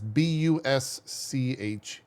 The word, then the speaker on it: Boucher: I don't know how to say their last name. It's Busche.